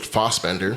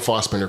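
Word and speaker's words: Fassbender: it was fast Bender I think Americans pronounce it fat but I think I've heard him say fos but Michael fos yes hey please don't kill us it's more Posh that way Posh yes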